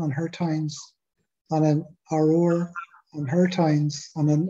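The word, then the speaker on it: Aroer: How do you pronounce that? Aror.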